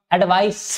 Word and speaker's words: advice: एडवाइस, ये ध्यान रहे बेटा, एक वर्ड होता है एडवाइज और एक वर्ड होता है एडवाइस, ये स है, ठीक है। यहां पर सा प्रोनाउंसिएशन निकलेगा और यहां पर जा निकलेगा।